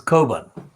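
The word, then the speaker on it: Cockburn: course the kerbans spelt c-o-c-k b-u-r and burn but it's an irish so its pronunciation is carbon and the kobans in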